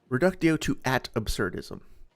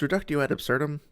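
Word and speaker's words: reductio ad absurdum: It's reductio at absurdum. It's not that hard.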